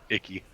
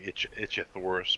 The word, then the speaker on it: Ichthyornis: Icky or an Just call him itchy. Icky. Icky or an itchy. They're actually Itchithoris, but we always call them ickies because they are icky little bastards.